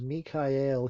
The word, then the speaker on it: Michael: be Michael for me que el me calle el I suppose would be the actual pronunciation of his name nee Kai el Archangel